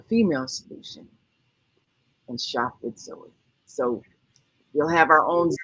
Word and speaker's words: Zoey: with shop with Joey with Zoey pronounced Zoe Zoe with Zoe and you